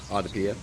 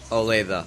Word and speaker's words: Olathe: Odypia? What? I think I said it wrong. Olathe, I'm sorry.